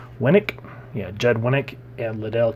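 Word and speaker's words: Winick: Winnick?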